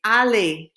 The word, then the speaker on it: aller: The verb is aller, to go. Say it after me. It's aller.